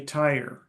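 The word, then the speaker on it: Tyre: You may have noticed that in English it is called tire. In Korean it is called So the Hebrew name for the city is other languages call it sh or sore but the Greeks called it turus. Many languages like English follow the Greek.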